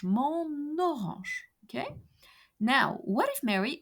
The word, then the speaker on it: mon orange: So the sound of the last letter of the word mon, N, is transferred to the second word orange, mon orange.